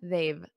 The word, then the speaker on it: they've: already exactly they have as a contraction they've repeat after me a very soft VV very soft they've V they've